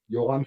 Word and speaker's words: Yoram: Yoram Sivan. You pronounce the R W- with w- the throat.